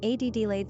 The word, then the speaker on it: Adelaide: Quick facts on Adelaide: gender, girl origin, English number of syllables, 3 ranking popularity, 321 pronunciation, Adelaide simple meaning, noble 1 characteristics of Adelaide: intellectual, sensual, freedom-loving, adventurous, adaptable, progressive, easygoing.